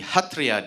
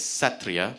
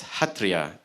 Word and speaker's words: Sattriya: It's a form of dance called the Hatria dance theater. Now, on my sheet of paper here, it looks like it's spelled with an S and it should have been pronounced as Satria, but I'm told that it's pronounced as Hatria dance.